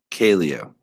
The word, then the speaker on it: Caleo: I saying that wrong I thought I read it as Caleo do I like am I mispronouncing it it's whatever you no you're saying it right it's whatever you want